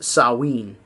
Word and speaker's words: Samhain: Sam it was spelled Samhain but it's actually pronounced sowwy and the festival sowwy marks the end of